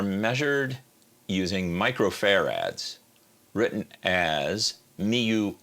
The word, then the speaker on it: mu: using microfarads written as Mu F yeah the first character that looks like a messed up U is pronounced mu it's a character that's